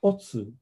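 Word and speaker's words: 乙: has been replaced with the character pronounced otsu in japanese which means the second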